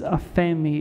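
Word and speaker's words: ἀφίημι: The Greek word that's used there for forgive is aphemi, is how you say it in Greek.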